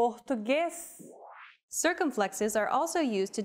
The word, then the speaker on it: Português: As we saw in the last example, circumflexes mark when vowels are pronounced with closed pronunciation. B, Português.